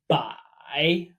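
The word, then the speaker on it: 百: character for 100, pronounced bye. Bye. Now, don't let this confuse you. The pronunciations seem the same. The difference is tone.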